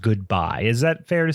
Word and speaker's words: GoodBi: so I would say I would imagine it's pronounced goodbye is that fair to say I would say it's goodbye and I've confirmed this with myself because the